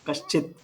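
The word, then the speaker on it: कश्चित्: But kaschit, ta is half. Kaschit.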